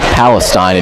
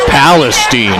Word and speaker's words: Palestine: I called it Palestine, and Don was like, it's Palestine.